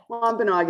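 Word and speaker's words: Wampanoag: Tell me how to pronounce the name of, is it wampanaug? Wampanaug is fine, yes, yes. Some of our elders say it differently over the times, but Wampanaug is absolutely works, yes.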